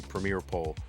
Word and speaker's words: Premier Poll: Premier with an E at the end, so spelled like Premier E-Poll, but it's really Premier Poll, but with an E.